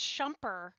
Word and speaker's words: Schumper: Well, the best part is it's Schumper. And Schumper. not I'm not even Schmooper.